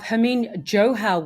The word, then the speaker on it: Harmeen Johal: Today I have Harmeen Johal with me from Talencia. Did I pronounce that correctly?